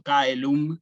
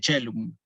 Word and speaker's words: caelum: un Cicerón, por ejemplo, cuando hubiera dicho caelum en vez de cellum. Caelum para Cicerón, cellum para la pronunciación eclesiástica o italiana, ¿sí?